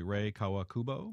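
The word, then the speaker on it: Rei Kawakubo: about the fashion designer and make sure I pronounce this correctly ray Kawakubo yeah that's right who may she makes clothes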